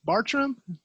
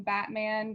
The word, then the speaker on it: Bartram: next we have uh how do you pronounce your last name this is it kelly bartram that yep that's perfect oh yeah i'm bad with pronunciation of name so i'm very happy i got that right no i've gotten batman bartman i've gotten everything so that's why um you